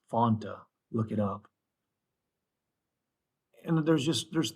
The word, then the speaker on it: Fanta: You got Pepsi, we got root beer, A&W root beer, Fanta, which is pronounced right. It's not Fanta, it's Fanta.